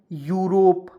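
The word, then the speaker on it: Europe: पढ़ेंगे जैसे यहां देखिए ई यू आर ओ पी ई तो क्या पढ़ेंगे यूरोप देखिएगा ई यू को यू पढ़ लेंगे आर ओ से रो होता है पी से प य को अंतिम में साइलेंट तो हो जाएगा यूरोप जैसे यहां पे ई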